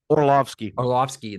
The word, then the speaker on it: Orlovsky: Dan Orlowski, is that how you say his name? Orlovsky, the old lifetime backup quarterback, is now he started for the Lions that went 0-16.